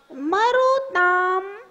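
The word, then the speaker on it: मरुताम्: न जातो जातु मरुताम मरुताम मां का उच्चारण ध्यान रखना मरुताम मरुताम मरुताम मरुताम चलिता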